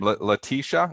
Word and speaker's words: Letitia: Letitia.